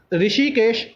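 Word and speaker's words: Hrushikesh: NCERT दे head ने ऋषिकेश सेनापति H silent थे इदा ऋषिकेश सेनापति एनसीआरटी दे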